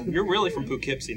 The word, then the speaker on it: Poughkeepsie: Hey, it's not, you're really from Poughkeepsie, not the Bronx. Yes, did I say it right? Poughkeepsie.